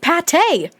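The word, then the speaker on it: pâté: It was called beef pate. That's pronounced pate, which might be French for meatloaf, if Isabella is right.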